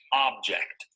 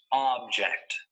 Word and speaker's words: object: of this word is object notice that the stress is on the first syllable object object this noun usually